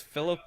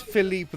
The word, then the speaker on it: Philippe: Also, can you name one of the Quaggoths Philip the Long Living? There you go. Okay, I might need to retcon that movement now. Oh, sorry. We should probably pronounce this Philippe the Long Living.